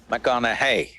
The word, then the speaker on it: McConaughey: try the second name mcconnell hey rhymes with what would madonna say so so i know you're matthew mcconaughey but do i know